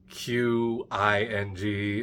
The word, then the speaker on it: Qing: It's Qing.